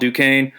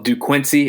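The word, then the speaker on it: Duquesne: uh I know maybe people don't know a lot about Dukane or Duke Quincy as my friend says uh cuz it does look like it's spelled like that um but Duan has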